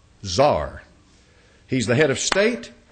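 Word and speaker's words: tsar: the the term Cesar you know how they say it in Russia Zar he's the head of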